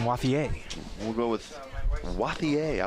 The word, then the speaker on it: Wathier: Is it Wathier? Is it the American version, or should we say it French style? I think you stick with the French pronunciation, Wathier.